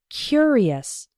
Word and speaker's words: curious: when we pronounce it the adjective form is curious the first syllable is strong he was a curious